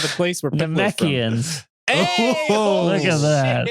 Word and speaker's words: Namekians: Namekians. Hey! Oh, Look at that. shit. Correct pronunciation and everything.